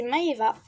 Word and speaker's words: Maëva: Elle, c'est Maëva, comme dans les Marseillais aux Caraïbes.